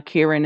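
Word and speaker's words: kirin: for the pronunciation but the kieran yeah okay uh chinese word for it is kielin uh kieran is japanese but yeah okay but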